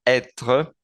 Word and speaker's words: être: En este caso son los dos que estamos viendo en este momento en la pantalla, que es el verbo être, se pronuncia être, y el verbo avoir, avoir.